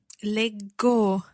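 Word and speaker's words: leggo: really need to learn i read would be lego so double g see followed by the o giving us a hard g sound let go and then you read let g okay so there's no h or anything like that in there it sounds as it does in the infinitive led g so the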